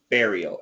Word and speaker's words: burial: simple pronunciation is baral burial and the intonation is on the first syllable okay thank you excellent